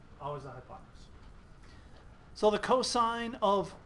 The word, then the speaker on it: cos: Our abbreviation for cosine is COS. We pronounce it cosine.